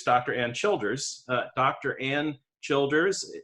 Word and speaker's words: Childers: Ann Childers, and I hope I'm pronouncing your name correctly. You are, Childers.